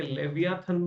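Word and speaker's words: Leviathan: धरती पर हॉब्स ने लेवाइथन की रचना करी। इसे कई जगह लेवियाथन भी लिखते हैं, याद रखिएगा। लेवियाथन या लेवाइथन, जो भी आप प्रोनाउंसिएशन करें।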